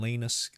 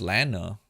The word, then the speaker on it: Lana: blood from Goodman and Lena Lana sky is it Lena or Lana L I think it's Lana I've been saying her name wrong Lena if it's Lena it should be l a i n a right yeah l